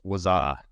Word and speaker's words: Wazuh: going to talk about, I think it's just pronounced Wazuh, right?